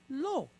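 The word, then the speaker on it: לא: Lo, right? So we have a lamed, L sound, pointed cholem, right, with this aleph behind it. The aleph is a silent letter, so it picks up the O.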